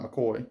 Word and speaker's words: McCoy: Oh, okay, Scott McCoy. Gotcha, it's pronounced McCoy.